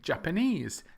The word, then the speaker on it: Japanese: we take Japan and think of the language or the people Japanese Japanese hello I speak Japanese it's not Japanese or japanies Japanese and also the language